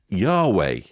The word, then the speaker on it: Yahweh: Jehovah is the best known English pronunciation of the divine name, although Yahweh is favored by most Hebrew scholars.